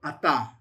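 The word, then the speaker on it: אַתָּה: pata, you have the taw with the dagesh lene, so it's a strong t, not a th sound, it's a tav, tav. You have the qamats, and then you have the heh, so atah.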